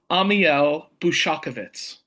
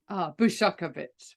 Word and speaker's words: Ammiel Bushakevitz: Now, how does he pronounce his name? Ottorino Ammiel. No. Sorry. Ammiel. Ammiel Bushakovitz. Bushakovitz.